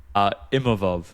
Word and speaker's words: Imavov: Imavov, just because his boxing was so slick and I feel like he was controlling the range really well.